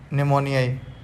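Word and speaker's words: pneumoniae: इसी प्रकार KPN, क्लेब्सिला निमोनियाई, तो ये जो निमोनियाई है जो स्पीसीज है, ये एन के बजाय ये पी से, जो पी साइलेंट है, तो आप ये ध्यान करिएगा थोड़ा सा।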